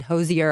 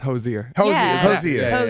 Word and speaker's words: Hozier: we want to feel special say hello to josier can I say it right yeah yeah it's so funny because I think when the announcers pronounced it like that on the Grammys they said Hosier I was like oh he said it wrong